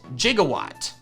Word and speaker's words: Gigawatt: Thankfully it had Intimidate and not Rivalry, and I named it Gigawatt. Spelled like Gigawatt, but pronounced like how Doc Brown says it in Back to the Future.